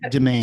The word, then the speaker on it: Demain: to the point yeah demain publishing, right? Uh or is this like how do you how do you pronounce this? Is it like the French pronunciation dema or domain? Domain. Domain. I always call it domain.